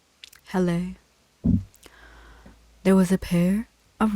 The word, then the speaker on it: Helle: Hell pronunciation. Helle.